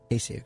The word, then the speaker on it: Cayce: Casey. Okay. Yeah. Yeah, this one is actually easier to pronounce.